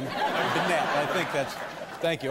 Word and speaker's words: Bennette: That's how he pronounces his name. Bennette.